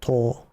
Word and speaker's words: 棟: Toe. Like your big toe.